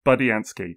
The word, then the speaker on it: Budiansky: Bob Budiansky.